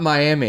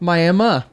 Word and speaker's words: Miami: So and you may even think like there's one and it's spelled just like Miami. Yeah. Right? No. It is not Miami. No. It's Miami.